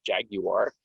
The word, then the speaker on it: Jaguar: i guess if you the way the british pronounce this is jaguar that's sophisticated um it's